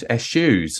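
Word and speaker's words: eschew: I I say it I naturally want to call it s shoes so the American way it's it's just for the listeners it's spelled e-s-c-h-e-w it's almost like a sneeze s-u exactly you know I could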